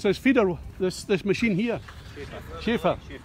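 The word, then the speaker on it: Schäffer: It's a Schaffer, not very sure. James Earl is watching there. How do you pronounce this feeder, this machine here? Schaefer.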